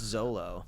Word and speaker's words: Xolo: It's XOLO. I believe it's just Zolo.